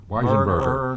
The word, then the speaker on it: Weisenberger: Weisenberger. Burger. It's a very long last name. Yeah. 4 syllables.